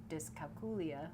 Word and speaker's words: dyscalculia: And it also, I had, dyscalculia, which is what we discovered is how you pronounce it, which is dumb.